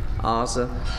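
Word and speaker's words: Oza: Want to send a song out to Lisa and Ozza. I think I pronounced that right. It's spelled O-Z-A, Ozza.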